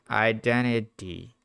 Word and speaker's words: identity: Identity. You can say identity, but it's very common in American English to drop the T identity after the N.